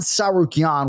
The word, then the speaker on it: Tsarukyan: So, so for Arman Tsarukyan, we're going 3 syllables.